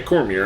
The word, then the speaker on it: Cormier: special guest referee Daniel Cormier or Cormier yeah Cormier I'm sorry I don't know why I pronounced it wrong there we have Matt riddle